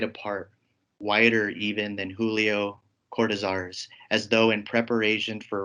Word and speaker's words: Cortázar: I believe the right way to say his last name is Cortázar, but I might just say Cortázar. I'm sorry for being lazy, my tongue.